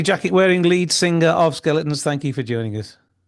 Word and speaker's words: Zkeletonz: find us the band skeletons obviously it's spelled Zed k e l e t o n z but that's on Instagram